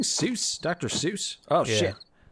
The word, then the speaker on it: Seuss: sis are you saying seuss dr seuss oh but i heard his name was actually pronounced like soy uh the what no